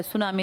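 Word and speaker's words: tsunami: इसमें T silent है। सुनामी लिखते हैं।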